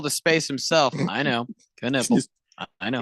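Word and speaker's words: Knueppel: Knipple. I know. It's spelled Knupple or something. EL, but it's literally pronounced. It's literally pronounced Knipple. I would go with Knuppel, but I felt like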